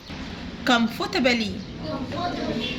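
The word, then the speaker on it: comfortably: هنحط فوق السي كيه كمفورتابلي هنا هنا هنا ال ال ال الار سايلنت الار سايلنت فمبنطقش الار كمفورتابلي تطبيقات الهاتف المحمول موبايل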